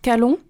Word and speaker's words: Calon: Et du coup, alors, c'est dit juste Calonne en breton, mais c'est pas grave.